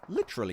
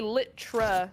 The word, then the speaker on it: literally: Although, actually, litra is wrong. It's literally. Yeah, but when you say it like normal, you don't really enunciate everything, right?